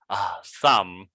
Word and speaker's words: thumb: Thumb, thumb, thumb, thumb up, thumb. Be careful with the B. Yes, it's thumb because the B is not pronounced.